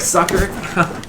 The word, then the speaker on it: succor: It's pronounced like sucker?